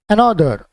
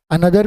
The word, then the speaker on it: another: आ जाते हैं नेक्स्ट पर, अनदर, ANOTHER। हम इसे अनदर भी पढ़ेंगे, अनोदर भी पढ़ सकते हैं या अनदर भी पढ़ सकते हैं। तीनों तरीके से आप इसका उच्चारण कर सकते हैं।